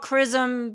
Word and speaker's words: XRISM: i s m and it's called chrism because I feel like they wanted to call a chrism because I had a cool X in it but it was hard to pronounce so they just you know unify the pronunciation um this telescope is